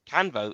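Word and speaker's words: Canvot: If it's a French name, Canvo is pronounced without the T.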